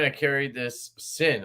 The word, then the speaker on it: Syn: I did not carry the sign. I carried this Sin. I always want to say sign because it's spelled with a Y.